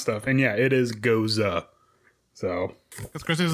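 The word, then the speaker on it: Gose: pronunciation guy in the back for how to pronounce stuff and yeah it is goza so because chris was like why don't you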